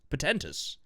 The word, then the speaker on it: portentous: To avoid the portentous, or is that pretentious? Portentous. Portentous. Portentous. There's no I.